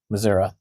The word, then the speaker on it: Missouri: like they're from Georgia, but they'll pronounce Missouri as Missouri. Missouri. Because they've been there, and that's how the locals say it, Missouri.